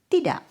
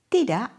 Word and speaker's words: tidak: Why doesn't tidak end with a K?